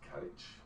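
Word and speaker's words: caraid: So it's spelled C-A-R-A-I-D, but it's pronounced carriage, and I know it's friend.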